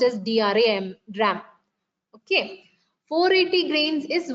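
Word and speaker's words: drachm: to 1 gram so CH is silent here it's pronounced as Dr dram okay 480 grains is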